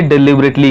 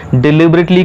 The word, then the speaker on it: deliberately: काफ़ी लोग इसको डेलिबरेटली बोलते हैं जो कि गलत प्रोनाउंसिएशन है। इसकी सही प्रोनाउंसिएशन होती है डिलिबरेटली।